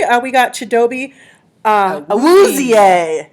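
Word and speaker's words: Awuzie: Round two, number 60, uh, we got Chadobe, uh, Auzier is how they say it.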